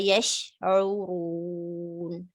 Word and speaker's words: يشعرون: Wama yash, sheen has this tafashi spreading sound, so give it proper time so that it's properly pronounced with the sh sound. Wama yash'urun, like that.